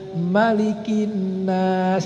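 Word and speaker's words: مَلِكِ النَّاسِ: Anas yang harusnya cuman pendek, banyak orang yang membacanya panjang. Qul a'udzu birabbin nas, malikin nas. Harusnya kan gitu.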